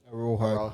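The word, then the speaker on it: Araújo: How the fuck do you pronounce that cunt's name from Barca? Arua? Araujo.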